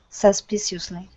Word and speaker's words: suspicious: it's an ious okay we don't pronounce all of those vowels okay so instead of saying suspicious it's suspicious so that uh this c-i-o-o-u-s this is shus like an s-h u-n-n-s shus suspicious suspiciously specific there you go